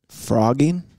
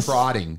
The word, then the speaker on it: frotting: Frotting is where you put two dicks together and you go like that. Frogging? Or frotting. Like F-R-O-T-T-I-N-G. Jeez. Yeah. It's frotting.